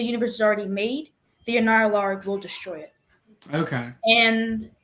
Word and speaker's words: Annihilarg: That's how it's said, the Annihilarg.